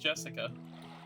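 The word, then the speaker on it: 朱志香: sharing the same kind of name anyways is pronounced Jessica she's dad's older brother's daughter dad's older brother's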